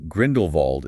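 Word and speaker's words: Grindelwald: Yeah, they want Grindlewald, which is funny because you know Grindlewald is a Germanic name. He built Nurmgar. In German, the W is pronounced like a V. So technically speaking, Grindlevald is actually the more accurate pronunciation.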